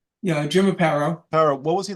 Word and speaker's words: Aparo: Yeah, Jim Aparo.